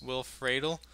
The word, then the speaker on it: Will Friedle: voiced by, I believe, the way you pronounce it is Will Friedle, who played as Eric in a show called Boy Meets World.